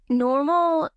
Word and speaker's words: NNormal: makes them so unique well normal it's spelled with two n and it stands for